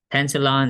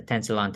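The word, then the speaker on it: Tensilon: of edgeophonium that is a positive tensalon test tensalon is spelled t-e-n-s-i-l-o-n tensalon tensalon is again what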